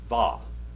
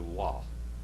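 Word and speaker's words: וו: Now, the modern Hebrew, they do not say wow. What do they say? Va. Va. We don't pronounce it like modern Hebrew. We pronounce it like biblical Hebrew. Wa.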